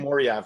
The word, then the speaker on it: Chimaev: How do you pronounce that dude's name? Chimaev, yeah.